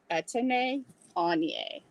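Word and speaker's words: Etienne Aigner: So this is pronounced, next time you get it, it is pronounced Etienne Anye.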